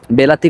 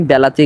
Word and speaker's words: বিলাতি: পানি ভারতের দানা পানি বেলাতি ঘোরার জন্য বা বেলা জন্য উপযোগী হয় না বেলাতি বলা হয় আবার বিলাতিও বলে তবে আমার কাছে মনে হয় বিলাতি বলাটাই ভালো হবে এরপর দেখুন লেখা রয়েছে